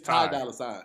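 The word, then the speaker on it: Ty Dolla $ign: It's Ty Dolla Sign. Ty Dolla Sign, yeah. Oh, you don't spell it out?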